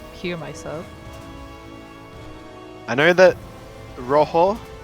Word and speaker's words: rojo: I know that rojo, it's spelled rojo, but yes. you don't say jo, you say ho.